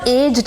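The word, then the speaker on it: aged: कब एज्ड कहना है? कब एजेड कहना है? हां। ए जी ईडी। अब यूके यूएस दोनों प्रोनाउंसिएशन में एजिड हम आराम से बोल सकते हैं।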